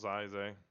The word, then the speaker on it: Zai: heading over to House Zay, or House Zai. Sorry, is that how it's pronounced? Zai? Zai usually. Yeah, Zai to try to see if we can navigate that.